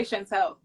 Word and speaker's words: Chantel: the top people that actually say my name properly from the get-go. Really? Yes. Chantel. Yeah, because if you send me a client, they say Chantel.